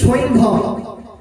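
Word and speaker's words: সৈন্ধব: যাবে না সৈভব লবণ আমরা অনেকে বলি সন্দক লবণ কিন্তু মূল উচ্চারণ কিন্তু সৈনভব যদি বাংলা ভাষার যে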